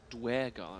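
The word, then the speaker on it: duergar: Oh, Dwergar, that's how we pronounce it.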